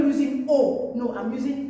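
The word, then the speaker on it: aux: Remember I've told you before, that when you see A and U joined together, it is pronounced O. So, the X is silent. So we have O.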